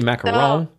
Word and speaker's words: macaron: You say macaron?